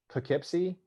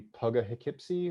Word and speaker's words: Poughkeepsie: I went upstate towards Poughkeepsie, spelled like dough with a P and then Keepsy. So it could be Poughkeepsie or Poughkeepsie.